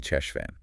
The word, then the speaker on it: Cheshvan: through it sure thing it sounds like you've been saying it with a silent h at the beginning maybe that's a common mistake the right way is actually chesan with a guttal sheay sound kind of like in the German word back chesan got it finally